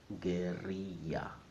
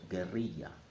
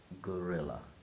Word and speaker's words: guerrilla: In Spanish, it's pronounced guerrilla. So if you're speaking in Spanish, you must pronounce it as it is in Spanish. So guerrilla, not gorilla.